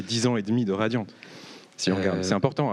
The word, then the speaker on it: Radiant: D'ailleurs, tu dis Radiant ou Radiante? Radio. Ok, Radio. J'ai tendance à radio. prononcer le T, mais il n'y a aucune obligation.